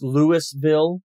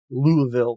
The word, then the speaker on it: Louisville: tiny it's in Louisville it's actually Louisville Louisville it's Lewisville Lewisville Kentucky that's how you say it I can't say it the way they say it louville with that weird thing that they do Louisville Louisville Louisville Louisville